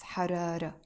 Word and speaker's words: حرارة: حرارة is a feminine word and it finishes with a Taa Marbouta, a T sound that we don't pronounce, حرارة.